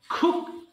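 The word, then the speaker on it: cook: করা bear bore born খুক এবার ককে আমরা খব হ্যাঁ আমরা সাধারণত ক বলি সো এখন থেকে অবশ্যই খ উচ্চারণ করবেন হ্যাঁ খুক রান্না করা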